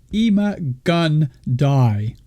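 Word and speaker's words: Ima-Gun Di: His full name is if I'm saying it right, Ima-Gun-Di. It sounds like I need a gun or I will die.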